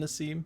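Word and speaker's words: Nasim: Congratulations, John and Nassim. Am I saying that right? Nassim? Nassim? Nazim?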